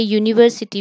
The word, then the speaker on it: university: And here also A university, we pronounce is as U, so it gives a consonant sound.